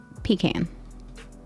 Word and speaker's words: pecan: listening if you go to north carolina it's pecan the carolinas are where pecan trees i'm sorry